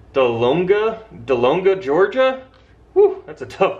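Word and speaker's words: Dahlonega: watching from the first one is hard to pronounce I'm gonna say it's delonga delonga Georgia that's a tough one d-h-l-o-n-e-g-a Georgia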